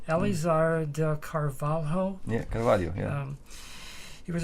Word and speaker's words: Carvalho: When I ask you about the teacher that you studied with, if I can pronounce his name correctly, Elizar de Carvalho.